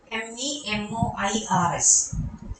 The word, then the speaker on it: memoirs: uh not done the pronunciation of this remember m-e-m-o-i-r-s it's pronounced memoirs it's member okay and written in